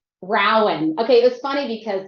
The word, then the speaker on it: Rowan: So we have Julia Rawlings, who is the assistant superintendent in, I'm gonna mispronounce this. Is it Rowan? No, it's, how do you say? Rowan.